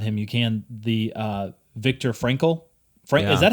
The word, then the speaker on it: Frankl: And at least by Stephen Covey, who was actually reading the audiobook, he said Viktor Frankl. That's how he said it. Frank, and it's spelled Frankl.